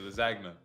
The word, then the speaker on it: lasagna: I say it in full pronunciation, lasagna.